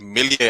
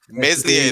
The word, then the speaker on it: Meslier: The goalkeeper of Leeds United, Ilan Millier. I think that's how you pronounce his name. Another one. That guy really. Meslier, there we go.